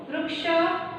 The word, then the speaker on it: वृक्ष: जैसे हम इसको हिंदी में वृक्ष पढ़ते हैं, मराठी में हम इसे वृक्ष पढ़ते हैं।